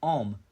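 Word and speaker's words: homme: one man in French it is pronounced om because the H and E are silent so hopefully you understand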